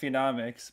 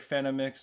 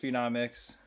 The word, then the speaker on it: Phenomics: name and stuff, which it's supposed to be pronounced phenomics, basically. That's how you say it. But people will say like phenomics or like people say it like, but it's like the word phenom. Like you think about a phenom in a sport or something, and it's just phenomics.